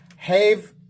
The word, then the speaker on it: Hive: Hive is pronounced like, hive is pronounced like a beehive.